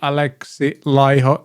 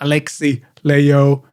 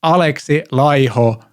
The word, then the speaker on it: Alexi Laiho: esp announces the new alexa liho that's how you pronounce it it's not alexi leo it's alexa liho learn to pronounce as finns do finish lesson number one